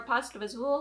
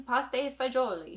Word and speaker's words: pasta e fagioli: We can make it for pasta fagioli, or if you want to say it correctly in Italian, pasta e fagioli.